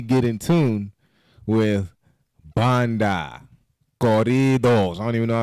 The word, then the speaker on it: corridos: But he's going to help me get in tune with banda, corridos.